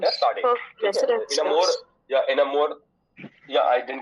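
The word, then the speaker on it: Sadé: We pronounce it as Sade.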